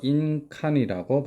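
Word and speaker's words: 印鑑: 이해를 해주더라도 인감증명할 때 인감은 일본어로 인칸이라고 발음하죠 인감이라는 단어입니다 다음 세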